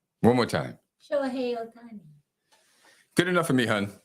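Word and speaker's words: Shohei Ohtani: Shohei Otani. Shohei Otani. One more time. Shohei Otani.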